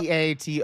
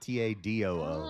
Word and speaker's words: tattoo: I do not say it like that. It's Hello? TATOO, Hello. not TADOO.